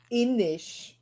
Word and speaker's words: Innis: Innis is like actually pronounced Innish.